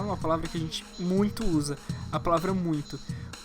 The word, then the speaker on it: muito: palavra que a gente muito usa a palavra muito essa combinação tem som de uim e palavras como muito